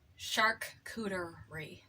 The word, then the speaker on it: charcuterie: Charcuterie. To bring it back to that. That is how you pronounce that word, a cheese plate.